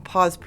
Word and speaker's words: Pas: The PA is spelled P-A-S.